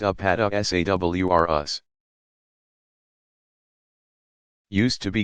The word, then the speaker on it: Apatosaurus: giant plant eaters include the Apatosaurus pronounced up at esa WR us used to be called